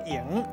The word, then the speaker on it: 楹: 是下拄，即个文音读作营，带大家